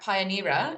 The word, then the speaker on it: Pioneera: pioneer look at pioneer is that how we say it yes that's exactly how you say it well done also very